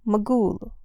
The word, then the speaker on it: Magul: I then proceeded from Abadan by sea, and after 4 days arrived at the city of Magun or Magul, of the quantity faul, with the G pronounced hard.